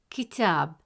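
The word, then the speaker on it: كتاب: In the word kitab, meaning book, the letter ta has a fatha vowel, which gives it a short a sound, pronounced as ta. Since the long vowel alif comes immediately after ta, it stretches the short a sound into a long a sound.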